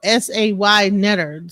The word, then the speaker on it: Saaneter: They don't saw Netter is spelled S A Y Netter.